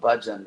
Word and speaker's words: bhajan: It's actually the word bhajan, like it's like when you pronounce this word budge, like I'm not going to budge.